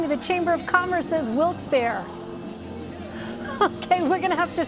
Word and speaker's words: Wilkes-Barre: ahead yeah alrights wilkes-barre the president said it wrong it's wilkes-barre he said will expire - I used to say wilkes-barre we people here will tell you wilkes-barre we call the Chamber of Commerce major the producers are